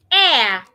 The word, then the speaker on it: heir: Air. The H is silent as well.